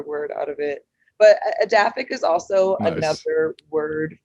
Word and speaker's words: Edaphic: But how do you pronounce the name of the company? Yeah, so my company is Edaphic, Uh-huh.